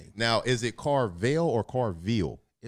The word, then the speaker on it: Carvill: Everything Carville. Everything is Carell V. You know that's me. Now, is it Carvell or Carville? It's Carell. You know, people pronounce it.